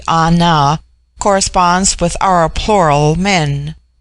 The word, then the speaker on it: Ana: put upon individual inclination the word Ana pronounced broadly on now corresponds with our plural